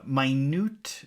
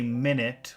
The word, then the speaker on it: minute: I gave him minute directions. Okay, you see that word, and you want to say minute, which means 60 seconds. But if you pronounce it minute, that means very detailed or very small.